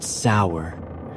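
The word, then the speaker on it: seiðr: Sometimes it relied on magic, specifically a mysterious practice called cider, pronounced sour, which was part sorcery, part spiritual therapy, and part my ex won't return my runes.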